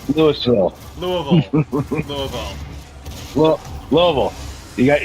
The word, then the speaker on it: Louisville: actually it's not called Louisville Louisville Louisville Louisville you got yeah you got you got to like just slur it all together well I always pronounce it like I'm saying blue oval that's that's how I